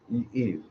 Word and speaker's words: Yves: Is that how you pronounce Yves? It's a French Eve. And there's Yves Saint Laurent pronounces his name.